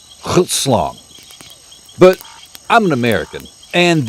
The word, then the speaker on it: Grootslang: NOW, I'M GOING TO pronounce Grootslang correctly once, so you know I do know how the it's supposed to sound. Grootslang.